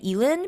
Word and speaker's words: Elin: is 28 Summers by Ellen Hilderbrand. Um, also I just want to note that I always teeter between saying Ellen and Elen because her name is spelled with an I.